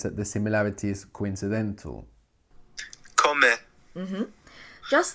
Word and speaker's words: comer: So luckily, the word for to eat rhymes with beber. Comer. I won't call this a rhyme. I would just say that they end in the same way and that this ER represents two.